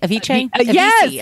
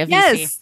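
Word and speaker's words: Avicii: it again with um the sweetest DJ um a aich a VC sorry a VC I said it wrong for years he was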